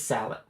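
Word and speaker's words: sallet: Yes, I don't know how to pronounce this word. I don't know if it's salet or salé. I'm gonna Google it. Salad. It is salad.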